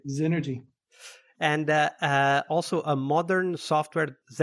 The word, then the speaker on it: Zenergy: Am I pronouncing that correctly, Shaun? That's right. Zenergy.